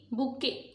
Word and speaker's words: बुके: सो देखिए स्पेलिंग क्या है, BOUQUET, बुके।